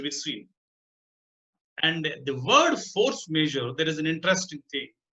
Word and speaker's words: force majeure: And the word force majeure, there is an interesting thing. The word force majeure is actually a French word meaning superior strength. In fact, its pronunciation is force measure, not measure.